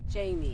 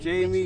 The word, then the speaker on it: Jmie: And she goes by the name of Jamie. Jamie, which is spelled J-M-I-E. J-M-I-E, remember that.